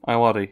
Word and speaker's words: Ayoade: Is that how you pronounce his surname? Ayoade, yeah.